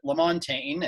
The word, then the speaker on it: LaMontagne: with Ovid LaMontagne and there are people who had no doubt promote pronounce it over the LAN team if they had a chance so la montagne would be the French way to do it of course and we're